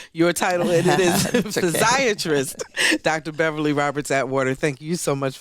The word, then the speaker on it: physiatrist: the show and now I'm recognized I've been mispronouncing your title and it is physiatrist Dr Beverly Roberts at water thank you so